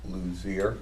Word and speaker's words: Luzier: Lou brought up a good point, and Dennis Luzier, am I pronouncing his name right? Lose. Lose, he's the Friends of Newt.